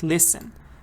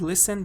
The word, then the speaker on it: listen: and it's this one the silent t when the t is silent American British any accent when T is silent it's silent you can't say it so you have to say castle like listen American says listen British says listen doesn't matter what your